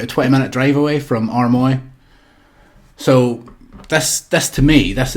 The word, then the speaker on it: Armoy: Is it Armoy right?